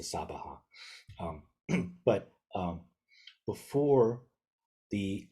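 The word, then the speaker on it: svāhā: although they have here this is SOA which is an an an alternate way sometimes that East Asian Buddhists pronounce the sabaha um but um before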